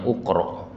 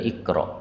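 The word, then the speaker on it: اقرأ: Ini orang kalau nggak ngerti bacanya ukro, padahal aslinya adalah ikro.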